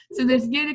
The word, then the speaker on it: Yada: So there's Yada Creative. I do pronounce it Yada, but then there's like a branch that doesn't, and it was a foreign language anyway, so nobody knows. Anyway, so and then I,